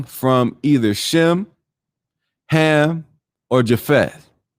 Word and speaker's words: Japheth: either shem ham or japheth or jaffa prop uh popularly pronounced jaffet so uh genesis 9